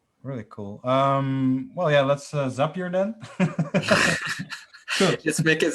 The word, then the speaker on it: Zapier: Probably because their slogan is "makes you happier." Then I think it's Zapier, maybe. Zapier.